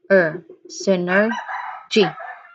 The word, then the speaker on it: synergy: The pronunciation here we have first sin, sin. Again, sin. There's like a short E sound in the middle. Sin, sin. Next, er. Again, synergy, G, G. You combine all these together, you'll get synergy.